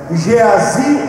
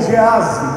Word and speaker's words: Geazi: O profeta Eliseu era mentor de um jovem chamado Geazi ou Geazi, como você quiser aí pronunciar.